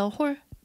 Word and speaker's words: whole: 보다, 텍스트를 as a whole, WHOL이 있고 W가 묵음이야.